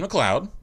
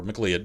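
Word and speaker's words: MacLeod: like this insert title kevin mcleod or mclead depending upon how you pronounce his name i believe it's mcleod and then in parentheses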